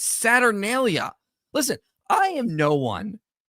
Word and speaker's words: Saturnalia: so many past videos it's not Saturn Denia like Saturn deelia or something he adds like an extra syllable in there it's saturnalia listen I am no